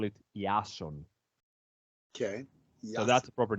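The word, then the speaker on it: Ιάσων: you this Jason it's not how we we pronounce it in Greeks uh I'm Greek guys so we actually call it yasun okay so that's a proper name it's cooler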